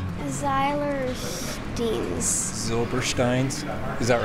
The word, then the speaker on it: Zylberschtein: Zylbersteins? Is that right? Zylbersteins. So Josh runs the place. You know how to pronounce it. Say it for us. Zylberschtein. Zylberschtein.